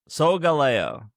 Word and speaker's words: Solgaleo: Solgaleo. Okay. Solgaleo. Yeah, that sounds. Because it rhymes with Galileo. But then I always try to remember, does it rhyme with Galileo?